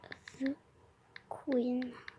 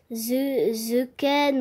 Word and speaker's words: The Queen: Je vais choisir aussi Lia the Queen. Alors, il y en a beaucoup qui ne savent pas le prononcer. En fait, c'est pas The Ken ou Tekken, c'est The Queen. Tout simplement The Queen.